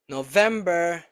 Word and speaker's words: November: Which five months are stressed on the second syllable? July, September, October, November and December.